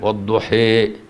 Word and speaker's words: والضحى: فعندك مثلا هو الضحى، احنا اصلا بنقرأ والضحى والليل اذا سجى بالالف كده، تم الإمالة والضحى شوية كده، ايه تكسرها شوية، والليل اذا سجى ليشاكل التلفظ بهما التلفظ بما بعدهما.